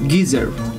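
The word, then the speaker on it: Ghizer: How do you pronounce Gizer? G-H-I-Z-E-R. That's geezer.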